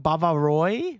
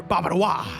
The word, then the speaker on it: Bavarois: name I at first didn't know how to pronounce. Want some Bavarois?